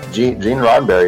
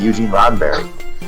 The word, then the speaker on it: Gene Roddenberry: So, Gene Roddenberry is a correct pronunciation. Yeah. It's not Eugene Roddenberry.